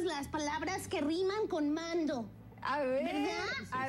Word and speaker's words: Mando: Estoy cantando means I'm singing, and cantando rhymes with Mando.